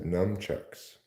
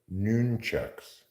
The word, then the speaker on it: nunchucks: you want a sandwich Bowski has numchucks I believe those are pronounced nunchucks n c huuu CC